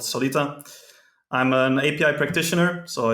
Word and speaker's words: Solita: what is it called Solita you say the name I didn't ask you how to say it Solita Solita yeah Solita okay it says like it reads so um I'm really